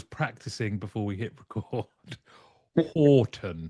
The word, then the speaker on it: Houghton: last, I don't know how long, I sometimes mispronounce his surname. So I was practicing before we hit record. Horton. Horton.